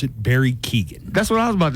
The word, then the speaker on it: Keoghan: So I pronounce it Barry Keoghan.